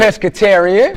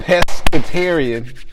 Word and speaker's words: pescatarian: Pescatarian. Pescatarian.